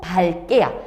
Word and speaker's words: 밝게: 근데 밑에 있는 애들은 읽고 밝게야. 자, 그러면은 얘네들은 뭐 때문이냐면 뒤에 오는 애가 이 끝자음 기억과 똑같기 때문에 그냥 읽고 그 다음에 밝게 라고 발음을 한대.